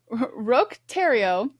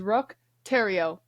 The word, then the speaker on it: Roch Thériault: Roch Thériault called himself a prophet.